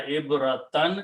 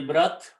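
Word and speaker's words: عبرة: Do not say ibrat or ibratan. Ta completely goes away. It changes with the sound of ibra.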